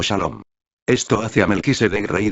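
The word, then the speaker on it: שלום: Salem es la original palabra hebrea que significa paz, y que hoy se pronuncia como Shalom.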